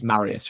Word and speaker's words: Marius: So, I mean, I think I'm pronouncing it right? It's Marius, right? Cool.